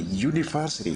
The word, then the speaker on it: university: Dan cara pengucapan bukan university, tapi university, kita menggunakan ya. Ia adalah bunyi konsonan, bukan vokal.